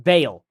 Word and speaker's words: Baal: Your husband is in a ball-worshipping club, Baal worshiping club, I should say. She says Baal, and now I'm saying Baal. It's pronounced Baal.